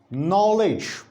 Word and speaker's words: knowledge: For example, we have such cases like knowledge. Apparently, when you look at the word, there is K, alphabet. But when we pronounce this word, we begin with phoneme N.